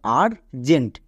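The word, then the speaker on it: urgent: টো মানে আর জেন্ট তাহলে ইউ এর পরে যদি আর থাকে তখন আমরা ইউ এর জন্য আকার সাউন্ড করব যেমন আর জেন্ট এখানে ইউ এর পরে আর আছে তাই আকার সাউন্ড করলাম এবার দেখো টার্ন এখানেও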